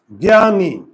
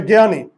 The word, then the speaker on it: জ্ঞানী: যায় রসকার ওকে তাহলে জ্ঞানী দেখি প্রথমে থাকলে আমার এই যুক্তবর্ণটা এই যে আর আকার তো আগের থেকেই আছে আর উচ্চারণের সময় দীর্ঘ ইকার কি হয়ে যাবে রস ইকার এই যে রস ইকার আর এই ন জ্ঞান বুঝতে কি পারলে